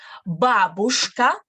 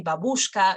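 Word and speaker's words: бабушка: here we have babushka this word is a common thing that people usually mispronounce in russian no they say babushka or something like that that's not quite true the correct stress is going to be on the first letter right here take it pay attention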